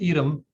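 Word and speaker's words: EADM: and decision-making edom e-a-d-m and is pronounced edom like the cheese so the initial bureaucratic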